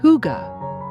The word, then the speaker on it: hygge: Pronounced Hygge, it's a Danish concept that's all about creating a space where you feel safe, cozy, and content.